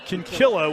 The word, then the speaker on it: Kinkella: And looks like Kinkella, but they pronounce it Kinkilla, which makes it the perfect name for somebody such as her.